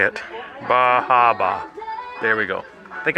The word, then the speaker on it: Bar Harbor: Bahaba.